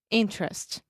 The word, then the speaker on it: interest: So technically, the word interest is spelled interest, Mhm. but Americans, I'm not sure about British people, but us Americans, we are very lazy. And a lot of times when we have an unstressed syllable in the middle of the word, we just eat that sound and I just say interest, Interest. just like Pinterest, Okay.